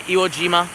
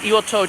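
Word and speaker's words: Iwo To: So it's just, and all the history books say Iwo Jima. Jima means island in Japanese. But it's pronounced Iwoto, just like Bali in Indonesia is Bali To, not Bali Shima.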